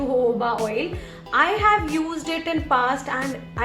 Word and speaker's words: jojoba: People do pronounce it as jojoba oil also, but it's known as jojoba oil.